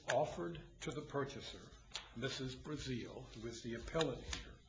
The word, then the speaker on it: Breazeale: The first case, excuse me if I mispronounce the name of the appellant, is it Breazeale or Breazeale? It's Breazeale.